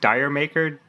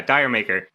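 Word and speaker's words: D'yer Mak'er: i think it's called i don't know if it's pronounced dire maker yeah dyer maker oh yeah check it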